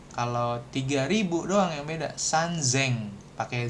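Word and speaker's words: 三千: Seng atau sanzeng. Nah, kalau 3.000 doang nih beda nih. Sisanya kan sama sengseng semua. Nanti kalau 3.000 doang yang beda sanzeng pakai Z gitu ya.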